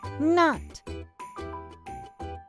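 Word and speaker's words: knot: The K is silent. This is the word not.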